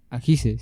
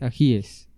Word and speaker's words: ajíes: sé, uribista, dijo que no se dice ajices, sino que se dice ajíes.